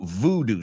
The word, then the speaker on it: voodoo: Cuidado, no boo con B-O-O, sino voodoo. So nosotros lo escribimos V-O-O-D-O-O y lo pronunciamos voodoo.